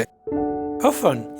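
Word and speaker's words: often: Lesson यानी सुनना, यहाँ पर टी जो है ये साइलेंट है, यानी साख्त हुरूफ है। अफन यानी अक्सर, यहाँ पर बी टी साइलेंट है, यानी साख्त हुरूफ है।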